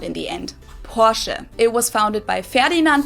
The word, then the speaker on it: Porsche: heard Americans pronounce it Porsche or Porsche in German we say Porsche so there's like this short a sound in the end Portia it was founded by Ferdinand